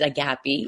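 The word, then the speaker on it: αγάπη: Now, you're also a radio show host and creator on a gape radio Greek radio.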